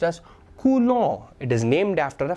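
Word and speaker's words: coulomb: kulong this m is B is silent s is silent so it's pronounced as kulong it is named after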